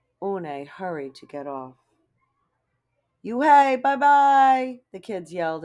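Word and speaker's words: Unhei: no no une corrected it's spelled u-n-h-e-i it's pronounced oh it's you hey the boy said like you hey what about hey you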